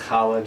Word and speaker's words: challah: Then challah bread, which if you don't know how to pronounce challah, just try to clear your throat and then say challah.